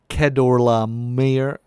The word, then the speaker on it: Chedorlaomer: I guess it would be K. That's why the NIV is giving us a K instead of CH. Just like Chaldeans, spelled with CH. So Chedorlaomer.